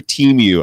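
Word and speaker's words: Temu: I don't know if I love Oh, sorry. Teamu. Apparently, I've been saying that word wrong the whole time, too. One of us has been saying it wrong anyway.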